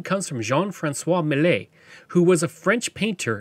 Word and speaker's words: Millet: comes from August Millet now I'm going to be pronouncing his name mle because he was a French fur Trader and that's likely how it was pronounced he was a fur